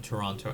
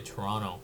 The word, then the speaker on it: Toronto: I know Torononians say Toronto. Toronto, but um I try to pronounce a T.